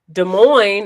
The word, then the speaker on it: Des Moines: you had some sniffles des moines is pronounced like the coin i think that eric is from des moines just a side note you know des moines neither of the two s's taco john and papa